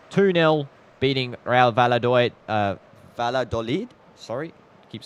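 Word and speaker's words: Valladolid: And full time full time 2-0 beating Ra Valad uh Valadolid sorry keep saying it wrong and that should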